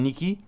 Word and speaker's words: Nike: Normalement, Mauricien prononce Nike, mais le vrai veut dire prononciation, c'est Nike. Nike, ça, c'est ce vrai terme.